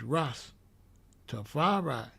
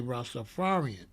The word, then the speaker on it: Rastafari: It's Rastafari. It's not Rastafari. We always write Rastafari like this. Always write Rastafari, R-A-S, capital T-A-F-A-R-I. Written in one word, but the capital separates the pronunciation.